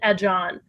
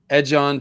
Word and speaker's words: Aegon: Edge on Targaryen. Because Aegon, if you take the G and pronounce it with a J, it's edge on.